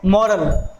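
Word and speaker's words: moral: इसमें हमने र को प्रोनाउंस किया क्योंकि इसके बाद वाउल साउंड आ रही थी, मॉरल ए की साउंड आ रही थी, तो हमने इसको यहां प्रोनाउंस किया है।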